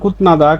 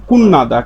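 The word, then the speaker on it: 끝나다: তাহলে এর স্বাভাবিক উচ্চারণ কুতনাদা। কিন্তু এর সঠিক উচ্চারণ কুন্নাদা। কারণ বাচ্চিমেয়ে ত ধ্বনির একটা বর্ণ পাইছি তারপরে নিউন পাইছি তাহলে ত ধ্বনির উচ্চারণটা নিউন হয়ে যাবে তখন এর উচ্চারণটা হবে কুন নাদা কুন নাদা কুনা উচ্চারণ করবেন এভাবে লেখা থাকবে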